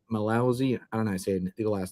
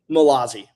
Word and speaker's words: Malazi: Malousi. How did you say the last name? How do you say your last name? Malazi. Malazi. Okay. Malazi.